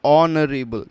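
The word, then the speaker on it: honorable: नरे बल ठीक है नरेल में एच जो है दैट इज साइलेंट ठीक है ये साइलेंट है और हम इसको जब बोलते हैं तो इट इज लाइक नरे बल ठीक है तो ए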